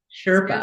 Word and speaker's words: Spirit Sherpa: And Kelle, you're a host of a podcast called Spirit Sherpa. Did I say it right? Spirit Sherpa.